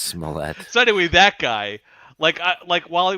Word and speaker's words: Smollett: Is it Smollier? Wally's mispronounced it so many times I don't know how to say it. It's just Smollett.